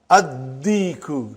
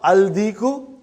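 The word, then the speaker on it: الديك: Addiku, not aldiku.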